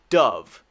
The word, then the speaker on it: dove: it's very beautiful it means peace so the pronunciation is dove just like the uv dove dove dove dove